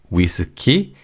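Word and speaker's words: 위스키: Also, drinks like whiskey and vodka are just said phonetically in Korean. So, whiskey is whizuki and vodka is puka.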